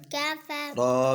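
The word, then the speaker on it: كَفَرُوا: काफ फा फा मिलाए काफ रा पेशवारू पेशवारू कफरू ये जो अलिफ है ना वाव के आगे ये साइलेंट है ठीक है ये वाला जमा के लिए होता है निशानी के तौर पर कफरू कफरू कफरू कफरू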